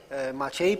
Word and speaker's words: Maciej: Maciej. What is the perfect pronunciation of your name? Maciej.